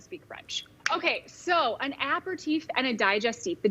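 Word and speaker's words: apéritif: steve he said how are we pronouncing how do you pronounce those all right how do you pronounce them and what are they app or teeth and a digestive yes it's french right so maybe you even say with like a french flair accent like an apple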